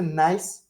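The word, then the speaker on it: gneiss: then we get to nice the g is silent so it's like nice um nice has your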